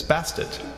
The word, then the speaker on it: Bastet: began referring to her with an additional feminine suffix as basted the name change is thought to have been added to emphasize pronunciation of the ending T sound often left silent cats in ancient Egypt